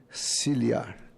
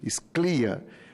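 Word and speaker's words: Scliar: Eu falava anteriormente de Sclia, mas ontem eu vi que é Ciliar, Moacir Ciliar.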